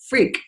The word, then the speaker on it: Freke: F-R-E-K-E, pronounced freak.